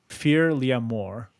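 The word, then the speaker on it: Fear Liath Mòr: was it called again fear Liam or oh but it's spelled weird it's like well fear is normal and then Li ATH mor hmm we got Bigfoot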